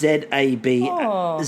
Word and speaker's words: zabaglione: No, it's Zabaglione. It's Zabalone. Fuck me. It's Sabalone, but it's spelled like Zabalone, which sounds like a weird version of abalone.